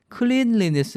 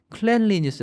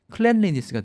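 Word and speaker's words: cleanliness: 클렌 s 라고 했는데요 스펠링을 보면 발음이 좀 헷갈릴 수가 있습니다 클린 이라는 단어에 다가 ly 를 붙이고 거기다 다시 less 를 붙이기 위해서 ly my 를 i 로 바꿨죠 그래서 그냥 보면은 클린 레인 s 라고 발음을 할 것 같은데 클랜 린이 스 라고 발음 하죠 그래서 클린 에다가 lol 만 붙이면 클릭 아 되는데 거기다 ness 까지 붙이면 클레인 레이스가 아니고 클랜 리스가 됩니다 그 차이가 있으니까 좀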